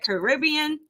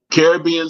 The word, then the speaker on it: Caribbean: I Say It Right Caribbean Caribbean Soul experience Caribbean Soul experence either you know what it depends who you run into when it comes to Caribbean versus Caribbean it depends who you run into so